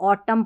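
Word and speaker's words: autumn: यहां पर भी इसको ऑटम पढ़ना है। ये स्पेलिंग जब लिखेंगे ना इसकी इस ऑटम की इसको ऑटम नहीं पढ़ना है। ऑटम ठीक है? और एमएन है ना ऑटम इसमें एन साइलेंट है।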